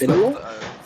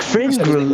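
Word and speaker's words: Fringrul: Did you say his name was Finril? DM forgotten name. Shut up. You have to ask Fringrel.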